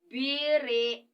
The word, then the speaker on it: Briten: You see, in Igbo, we spell it in this way. Briten. Britain. If you want to use complete Igbo way of pronouncing what you say, Bretn.